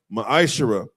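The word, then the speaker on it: מַעֲשֵׂר: verses 8 through 10, means tenth in the Hebrew is pronounced ma'ashara.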